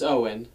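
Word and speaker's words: Eoin: I'm thinking of changing my name, cause it's Owen, but yeah, no, that's fine, cause it's spelled E-O-I-N, and my mom's always like, she's always like, it makes you stand out.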